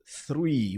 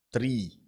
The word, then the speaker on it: three: Aí é quando a gente diz, pronuncia tre, né, ou tree ou tenta, a gente se aproxima um pouquinho mais da palavra árvore, né? árvore three sopra um pouquinho para falar esse número, mas como eu tinha